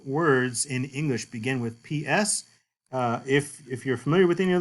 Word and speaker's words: psi: And the name, like I said, is psi, and it makes the PS sound, as in the English word apps, apps.